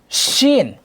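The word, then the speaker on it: ش: ওকে, শিন, শিন বললে বাতাস বের হবে।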